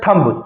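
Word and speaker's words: thumb: आगे मीनिंग है हम पढ़ते हैं थंब। थंब में थंब ब नहीं बोलना है आपको। वहां पर बी जो वर्ड है वो साइलेंट रहता है फनेटिक में उसको थंब पढ़ा जाता है।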